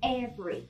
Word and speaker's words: every: family แบบเน้นพยางค์ท้ายแล้วก็มีมิด้วยแต่คำนี้ค่ะสองพยางค์ค่ะเป็น family ทุกนะคะ every ไม่ใช่ every แต่เป็น every สองพยางค์ค่ะ every ต่อมาค่ะคำว่าดาบคำนี้หลายคนอ่านผิดไม่ใช่ sword นะคะแต่เป็นพยางค์เดียวค่ะ swordคำว่าหนี้สิน